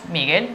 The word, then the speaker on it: Miguel: Pero la pronunciamos como si fuera una palabra llana, que debería tener tilde entonces en la I, sí, pero no. Y decimos Miguel porque nos da la gana, tal cual.